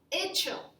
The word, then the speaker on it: hecho: Hacer, hecho. It also has a silent H.